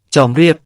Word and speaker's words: ជំរាប: ในภาษาสันสกฤตและบาลี ส่วนคำว่า ชำราบ มาจากภาษาขอม ถ้าออกเสียงตามภาษาขอม จะออกเสียงว่า จ็อมเรียบ คำว่า จอมเรียบ มาจากคำว่า เจฺรียบ